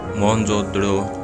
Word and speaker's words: मोहनजोदड़ो: video को पूरा देखें मोहनजोदड़ो सब का सही उच्चारण है मोहन जोदड़ो सिंधी भाषा में इसका